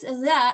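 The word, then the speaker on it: ذ: The difference is that this is pronounced very similar to tha, but there's more vibration. Za, we say zalikal kitab. Okay, so this is the th sound, as in the word this is more vibration, and this one is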